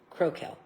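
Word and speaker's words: Crocell: Duke Crokel. They're spelt with C's but pronounced with K's. Crokel.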